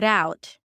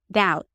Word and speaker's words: out: the flap t figure out. Okay, so see how I break it down. Figure r out. The out sound is basically the a as in cat and then an uh and a t.